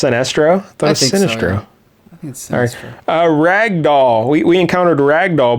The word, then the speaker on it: Sinestro: the sorcerer sinistro hey that's an actual villain sinistro sinestro oh it's pronounced sinestro a ragdoll we encountered ragdoll before in the